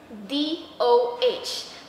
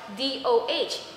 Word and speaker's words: DOH: However, in this example, DOH, Department of Health. I did not pronounce it as DO, but DOH, per initial.